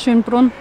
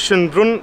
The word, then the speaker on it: Schönbrunn: forgot the name again how do you say it schloss schönbrunn schloss schönbrunn in the competition but no one will probably know it here if you say schoenenburg beautiful castles beautiful restaurants